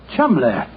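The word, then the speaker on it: Cholmondeley: that the name CH is in no way pronounced the way it is I never thought of that chumbler that name spelled c h o l CH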